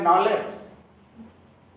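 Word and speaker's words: knowledge: अंग्रेजी में तो लिखते हैं वाल्क और पढ़ते हैं वॉक, लिखते हैं नॉलेज, के से शुरू होता है, पढ़ते हैं नॉलेज। उनसे पूछिए कि वो यल और के कहाँ गए, तो बोलते हैं साइलेंट हो गए।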